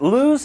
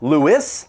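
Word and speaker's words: Lewes: Now, if you've seen this name before and you've pronounced it LSE, this is your opportunity to stop. It is pronounced Lewis, like if you were to say St. Louis.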